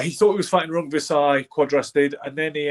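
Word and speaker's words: Rungvisai: Rongvisai is the way you say his name, I believe.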